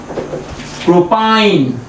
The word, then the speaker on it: প্রোপাইন: এর সাধারণ নাম মিথাইল অ্যাসিটিলিন, কিন্তু আইউপ্যাকে নাম কি হবে, 3টে কার্বন, উচ্চারণ হবে প্রোপ যোগ আইন, প্রোপাইন, নাম হয়ে গেল প্রোপাইন।